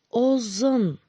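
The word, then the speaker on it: ұзын: Губы в трубочку свернули и твердо произносим «О». И как мишки рычим «О». А теперь вместе скажем «Озон».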